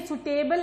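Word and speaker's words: suitable: Selection of सूटेबल order. अगर सूटेबल order, सूटेबल क्या होता है? अच्छा, ये सुटेबल नहीं होता बिल्कुल, please don't call it सुटेबल, don't pronounce it सुटेबल, इट इज सूटेबल।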